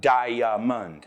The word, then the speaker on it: diamond: It's not "di-a-mond". It's diamond.